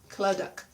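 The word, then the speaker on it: Clydach: It's with a Y, Cly, but it's pronounced Cluddock. Cluddock Gorge, Shakespeare's Cave, and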